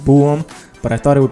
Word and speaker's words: Bohm: block bluetooth speaker by Boehm well it turns out that I've been saying it wrong it's actually pronounced boom but I thought it